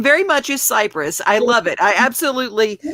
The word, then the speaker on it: Cipris: So my last name is Cipris. I get Cipris, Kipris, Chipria, Capri. Oh, and my favorite one is Crispy.